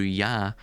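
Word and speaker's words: יה: Obviously the devil, as well, as we'll see later on, links with number 15, which of course is pronounced in Hebrew Yah.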